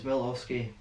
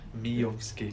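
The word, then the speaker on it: Miovski: Aberdeen started well as Milowski. Mate, you can't say his name. Miowski. Miowski. To be fair, I could be wrong, but I think that's how you say it.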